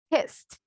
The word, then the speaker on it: kissed: Entonces yo no voy a decir kissed. No, kissed, kissed. No hay sonido de la vocal E, ¿verdad?